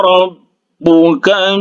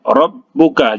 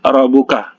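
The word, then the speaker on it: رَبُّكَ: Kemudian rabbuka, huruf ba yang bertasydid ditahan, rabbuka, jangan rabbuka, ya. Rabbuka. Kemudian bi ashabi, huruf ha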